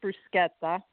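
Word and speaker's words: bruschetta: tell you it's pronounced brusketta okay because the CH in Italian is like a k um and probably not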